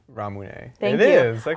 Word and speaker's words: Ramune: It's Ramune. Ramune.